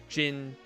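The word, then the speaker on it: djinn: just gin gin gotcha it's just pronounced gin pronounce dijin as jin gotcha in genie oh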